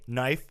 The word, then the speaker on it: knife: karate, hard K, knife, silent.